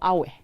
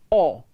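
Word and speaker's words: awe: silent sword not sword the letter w is also silent in the word or spelled a w e is not a or away it is all a w e all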